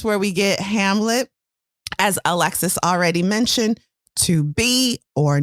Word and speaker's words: Alexis: If I say Alexis, I'm not saying one syllable louder than the other, but that emphasis is clearly on the first syllable of Alexis, Alexis, Alexis, Alexis.